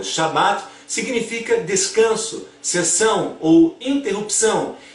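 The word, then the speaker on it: שבת: Agora, analisando o Shabat judeu da Torá, no judaísmo o sábado, em hebraico pronunciado como Shabat, significa descanso, cessão ou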